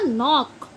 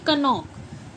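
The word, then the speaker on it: knock: ऐसे ही के एन ओ सी के ये बनाएगा नॉक ना कि कनॉक।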